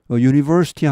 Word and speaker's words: university: university 하면은 사실은 그 U가 모음이지만은 발음이 그 J자 거꾸로 해놓은 U 이 반자음 반모음이라고도 하는데 이것은 자음으로 취급합니다. 그래서 이것은 은 아니고 university입니다. A university 이렇게 하죠. A university.